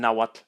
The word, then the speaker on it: Nahuatl: in writing by TL in Central and Northern naat it retains its classical sound so the name of the language is pronounced naat this is a consonant